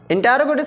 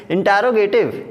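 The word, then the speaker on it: interrogative: इंटरोगेटिव sentences guys, कई बार लोग इसको इंट्रोगेटिव पढ़ते हैं। Never read it इंट्रोगेटिव, इट is written इंटरोगेटिव, call it इंटरोगेटिव। Okay, so the pronunciation is इंटरोगेटिव।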